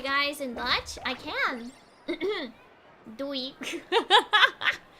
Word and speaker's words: Doei: Doei. Doei.